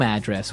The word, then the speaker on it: address: Okay, so different from your home address where you live. Yeah. And there the stress is on the first syllable. Address, right? Perfect.